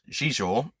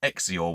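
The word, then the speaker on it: Xizor: a bit like me Prince um shisha apparently as he's meant to be pronounced I always thought it was exior when I was reading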